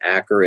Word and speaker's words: Achor: Author is Sean, I believe his last name is pronounced Acker. It's spelled Achor, but The Happiness Advantage.